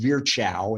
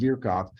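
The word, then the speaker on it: Virchow: who the professor was virkov so if you see the name v-i-r-c-h-o-w that's not pronounced veer chow it's pronounced vierkov and he's a famous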